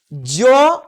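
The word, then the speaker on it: Z: এটিকে আমেরিকান ইংলিশে বলা হয় জি। আমরা বলবো জেড, এটা দিয়ে জয়ের সাউন্ড আসে, জু, প্রাইজ, এইরকম।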